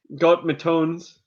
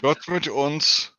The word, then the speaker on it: Gott mit uns: Oh, I have the CN Arsenal Gott Matones shirt. Gott mit uns. Yep. You can't even pronounce it, but you got it.